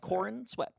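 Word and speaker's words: Corenswet: what is that chordsman is that really how you pronounce it yeah like corn sweat I don't I don't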